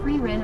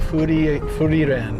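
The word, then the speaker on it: Frieren: Says, so is it free ren or free ren? What is the proper pronunciation? Free ren. Because they say it like Furi ren, right?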